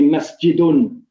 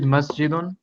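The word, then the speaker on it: مسجدٌ: Okay, so masjid, how do we pronounce the end of masjid? We say masjidun. So alternate, ikhwan, word by word. Okay, go ahead. Who's first? Omar, go ahead. Okay. Masjid, masjidun.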